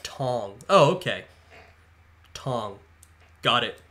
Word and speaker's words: Tang: during the medieval era Tang is pronounced like Tong oh okay Tong got